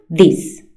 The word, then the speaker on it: this: Y se pronuncia this, cortito, this.